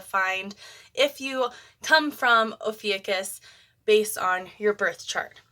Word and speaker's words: Ophiuchus: So right away, Ophiuchus, which I know I'm saying it right because